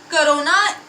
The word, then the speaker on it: kronor: करोना KRONOR, इसमें last are is silent, और ये एक स्वीडन करेंसी है।